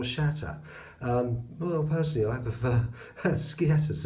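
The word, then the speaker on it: sceatta: Anyway, and look at that, yes, the skeet or scatter, or as it's properly pronounced, shat or shatter.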